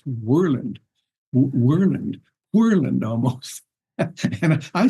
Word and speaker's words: Worland: guy and and uh we were playing uh warland one time and I pronounced it warland warland like it's spelled and